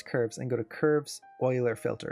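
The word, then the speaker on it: Euler: So what I can do is I can select these curves and go to curves oiler filter. It's spelled uler but it's pronounced oiler.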